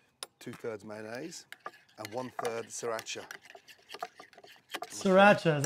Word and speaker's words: Sriracha: 2/3 mayonnaise and one3 Sriracha Sriracha is how you say that from there I'm